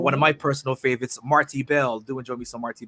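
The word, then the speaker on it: Marti Belle: Isn't it just Marty Bell? Because I'm from Virginia and we just like stress our syllables weird. Oh, okay. All right. Marti Bell, Marti Bell.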